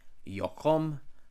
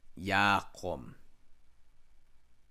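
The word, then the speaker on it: יָקֹם: Thus, this part of the word could not be yokom, nor yokam, nor even yakam, but only yakom.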